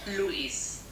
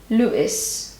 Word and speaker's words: Luis: me to pronounce and this is how Google Translate pronounces Luis Luis Luis so we would say Louis in English and it's definitely not